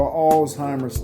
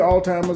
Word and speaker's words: Alzheimer's: So, I know we hear Alzheimer's all the time and I hear and I know what you're talking about, but that is not the proper way to pronounce it. It's Alzheimer's.